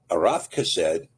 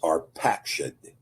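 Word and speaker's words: Arphaxad: Now, arafased is usually discussed in most English texts as arpsheted. This is a this is a Yiddish pronunciation of the Hebrew word and it ignores uh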